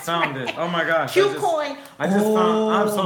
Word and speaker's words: KuCoin: KuCoin is not spelled Q, it's spelled KU coin for the exchange.